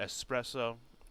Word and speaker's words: espresso: 454 horsepower uh Cliffhanger espresso it's not espresso there's no s there's an s x there's no X in espresso see I pronounce the